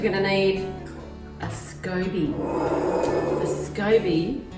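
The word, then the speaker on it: SCOBY: to need a Scooby Scooby it's spelt SC oby and it stands for symbiotic culture of bacteria and yeast yeah yeah terrible but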